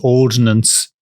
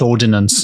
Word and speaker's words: Ordnance: And I feel like I might have pronounced Ordnance Survey as Ordinance Survey earlier. And I don't want to get emails. I just want to say I know it's Ordnance, not Ordinance. But yeah, maybe it's like